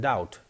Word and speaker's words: doubt: confuse me for instance B is silent in doubt and that what is